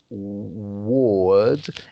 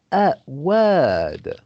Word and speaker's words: word: So instead of ward, it's word.